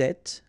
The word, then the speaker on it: êtes: Vous êtes, little liaison between the two, and then final S not pronounced.